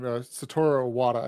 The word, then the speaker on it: Satoru Iwata: A former Nintendo CEO was asked at one point in time, Satoru Iwata, I believe is how you pronounce his name.